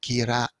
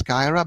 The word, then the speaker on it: Kira: next step is that Kira is from Brooklyn. I pronounce it Kira because I know that in English it sounds Kyra, but Kira is a